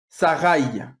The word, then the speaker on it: Sarai: du nom de Sarai, à la fin de son nom, il y a un Yod. C'est ce qui fait le Ye à la fin. Sarai.